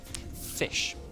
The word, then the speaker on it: ghoti: Fish. But it's spelled GHOTI. That says fish? So if you take the GH from enough, the F, and then O from women, which is I, and then okay, your language is really weird, man.